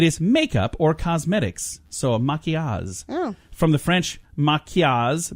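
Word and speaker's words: maquillage: your grandiloquent word of the day it is Maki Oz what do you think Maki Oz means Heidi I don't know I'm gonna spell it for you because this is not how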